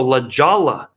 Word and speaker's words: La Jolla: San Diego, La Jolla is how it's pronounced.